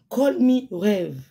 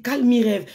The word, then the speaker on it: Call me rêve: Call me rêve. L'autre der elle a prononcé mon TikTok, elle a dit calm rêve. Souris bordel. Mon TikTok ce n'est pas calm rêve.